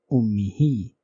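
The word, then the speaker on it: أُمِّهِ: means his mother, and hu was preceded by zair, and that is why we are writing it in this way with a vertical zair underneath the alphabet, and it is pronounced ummihi.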